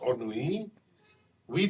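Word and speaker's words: ennui: spelled e n n n UI but it's pronounced on we thought it meant only boredom but Dr arishi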